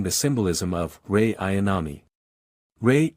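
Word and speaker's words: Rei: Ray equals Ray Chandler. Same pronunciation.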